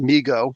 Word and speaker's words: Mego: response to overwhelming demand mego pronounced migo well then you should put two e's in it migo corp started by